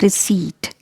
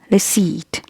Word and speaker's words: receipt: is pronounced like deceit letter p is silent here so you'll not pronounce it like deceived you'll pronounce it like receipt receipt this is heisen not